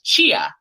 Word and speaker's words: Chia: He goes, "No, you're saying it wrong." And I was like, "What do you mean I'm saying my last name wrong?" They're like, "No, it's Chia."